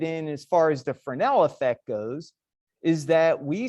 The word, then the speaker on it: Fresnel: a fresnel reflection e f-r-e-s-n-e-l so as something or as our viewing angle changes we start to see more reflectivity so some of you may have heard of fresnel before the s is silent they use fresnel lenses